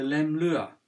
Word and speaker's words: Leumluath: nouveau mouvement qui s'appelle le LEM Lua c'est un mot angalique et on prononce par le TH à la fin comme vous voyez ça